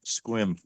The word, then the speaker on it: Sequim: Pronounce it right. Squim.